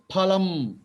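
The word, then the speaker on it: फलम्: There is no fa letter. It is pha, cha, cha, ka, kha, ta, tha, ta, tha, pa. You should join your lips, add a hakara to it. Pha, pha. It is phalam.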